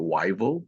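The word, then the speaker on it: Whiteville: Carolina a small a small town called they pronounce it wyal but it's spelled white bille so we stayed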